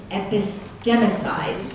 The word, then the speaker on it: epistemicide: The epistemicide, did I pronounce that right? Yeah.